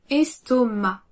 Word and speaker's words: estomac: Ici, malgré la présence du C final, on ne le prononce pas. On dira donc estomac. Es-to-ma. Estomac.